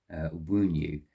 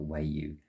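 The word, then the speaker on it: Wunjo: Okay, I pronounced it a little bit wrong. It's actually Wunyu, not Wayu.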